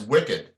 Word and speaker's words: WCID: on to these things it could be pronounced as wicked and so I'm hoping